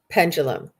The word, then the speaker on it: pendulum: And it is pronounced pendulum. I know that there's no J in there, but it does have that just sound.